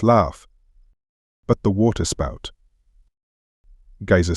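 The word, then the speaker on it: Geysir: the waters the Gea a word the icelanders pronounced Gea and which signifies Fury Rose majestically from its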